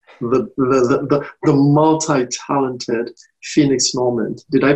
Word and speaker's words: Normand: with the master the the the multi-talented phoenix moment did i pronounce that correctly you did okay phoenix it's